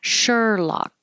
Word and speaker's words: Sherlock: have separate vows so Sherlock I'm using ER like her which is how I usually pronounce sure although this word could